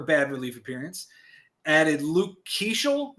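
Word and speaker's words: Keaschall: Added Luke Keeschel. Is that how we're pronouncing that? Keeschel? Sure, yeah, let's go with that. But Okay.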